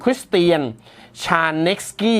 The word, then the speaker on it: Krisztián Sárneczky: ชาว ฮังการี นะ ครับ ชื่อ ของ เขา ถ้า อ่าน ออก เสียง เป็น ภาษา อังกฤษ เป็น สำเนียง อังกฤษ คือ คุณ คริสเตียน ชานก กี้ นะ ครับ เป็น นัก